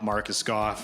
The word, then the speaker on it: Marcus Goff: fox songs name drop marcus goff which is a guy we went to school with and um don't really know what started it it just rhymes with off so we just say